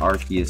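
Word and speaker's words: Arceus: alt art AR archus I'm still getting used to calling it archus cuz technically that is is the how it's pronounced I've always been calling it arus to me that sounds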